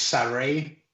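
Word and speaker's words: Sarray: official she's coming and her name is essentially the same but kind of different now so it's pronounced sorry now so there you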